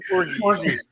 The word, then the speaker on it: orgies: Orgies. Hard G. Orgies.